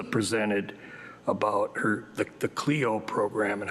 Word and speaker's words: Clio: Uh Cleo is I think the how they pronounce it.